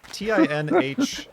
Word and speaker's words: Tinh: It's TINH and then 1 million, so I just pronounce it Tin.